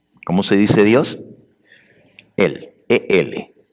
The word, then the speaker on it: El: Elí, en hebreo y en arameo, Dios se dice Él. ¿Cómo se dice Dios? Él, E-L, Él.